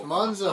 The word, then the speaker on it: Monzo: You can't even pronounce it right. Moonzo! It's Monzo.